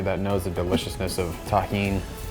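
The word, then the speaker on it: tahini: Shout out to everybody that knows the deliciousness of taheen. That's how you pronounce it.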